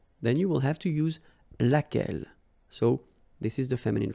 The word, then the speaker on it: laquelle: So basically same rule, QU, U is not pronounced here. And then you've got this double L-E. Well, phonetically here, it is the same as what we have here. So, laquelle.